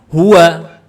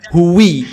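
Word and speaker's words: هو: ini anda menemukan teks ini pasti bacanya Hua enggak mungkin dibaca huwi huu enggak mungkin pasti dibaca Hua enggak mungkin dibaca yang lain oke jelas ya Ini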